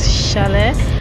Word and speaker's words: chalet: kids to the challenge I think the right pronunciation to that word I just pronounced is Chalet okay guys who are